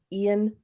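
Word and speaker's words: Ioan: say his name it's it's spelled IO a n Ian is that how you spell that or pronounce his name Ian Gruff played Mr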